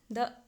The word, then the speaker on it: the: वैसे यहाँ पे अनियंस है तो ये वोवेल साउंड आ रहा है अनियंस प्रोनाउंस करने पे, तो यहाँ पे द के बजाय हम दी प्रोनाउंस करना सही रहेगा।